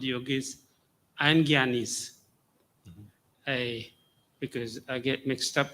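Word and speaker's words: jnani: It says Janani's. I can't pronounce that. You can tell me how to pronounce that. Janani's desire liberation. Gyanis. Hmm? Gyanis. Gyani. That's what, right.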